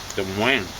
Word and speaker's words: Des Moines: Is that how they say it? It means the monks in French. Des Moines is how you should say it, roughly.